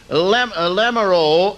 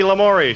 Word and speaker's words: Lamoureux: 9th grade girls winner, Lamoureux of Grafton. Did I say it right? No. And the 9th grade boys winner, Jim Nelson of Bismarck. It's Lamori, so we stand corrected.